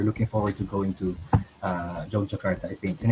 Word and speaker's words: Yogyakarta: Oh, I gotta correct my pronunciation there. It's Yogyakarta, Indonesia. There you go.